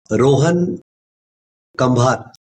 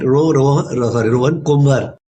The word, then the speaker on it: Kumbhar: So I'll now move to Rohan Kambhar. Okay, if I pronounce it correct. Rohan Kumbhar. कुंभार, yes sir. Kumbhar, yeah.